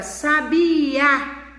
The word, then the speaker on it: sabiá: Agora, sabia, né? O A está acentuado, contém o acento agudo.